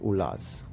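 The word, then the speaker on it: Olaz: into Germany and Italy they call it oil of ulas this is in insanely sophisticated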